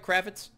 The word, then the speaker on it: Kravetz: Last week's winner, Kravetz, did I pronounce that right, Kravetz? You did. Okay, like Kravetz. Lenny. Exactly. Like Lenny. Different spelling.